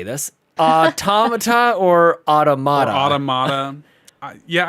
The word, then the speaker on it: Automata: to say this uh automata or automatic yeah I say automata because I because the way I think of it is it's like automaton right sure so I don't